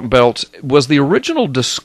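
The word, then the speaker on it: Biltz: Blood Moons by Mark belts b i l TZ but you pronounce it belt um he uh he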